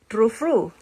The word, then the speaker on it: Tru Fru: We got this true true fruit. True fruit. Why there is no f i t right here? So you pronounce it true. It's called true fruit.